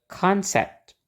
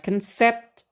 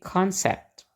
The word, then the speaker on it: concept: kata di sini ya kita pakai pola Nana Nana jadi bacanya concept Jadi bukan concept tapi concept Oke mudah-mudahan sudahah lebih